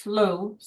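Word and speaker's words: slough: So, for example, you can walk through the six mile cypress sloth uh pronounced slow.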